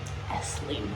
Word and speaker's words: Esslingen: Esslingen.